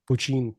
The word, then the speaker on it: Poitín: I don't know how to yeah, pronounce this. Poitín, Poitín, Poitín. Poitín. There we go.